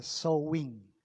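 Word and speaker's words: Samhain: se llama San Ángel se pronuncia so wein en Irlandés o en Celta y significa el señor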